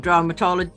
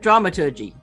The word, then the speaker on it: dramaturgy: theater or roles in the theater or um dramatology how do you say it dramaturgy that's it yes which if you don't know